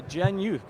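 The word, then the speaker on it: GenYouth: are working with uh Jen youth correct is that did I say it right absolutely you did Jen youth short for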